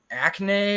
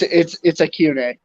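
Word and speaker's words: Achane: It's like Acne or something like that. He's the running back at Texas A&M. It's Acune. Acune, yeah.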